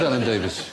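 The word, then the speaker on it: Alan Davies: What does Alan Davis give us, I wonder? Doesn't really rhyme with anything apart from Mavis. Unless you know someone called Mavis.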